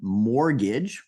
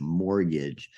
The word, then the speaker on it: mortgage: have this uh word mortgage remember don't pronounce that t in there swallow that T Mortgage mortgage uh this word can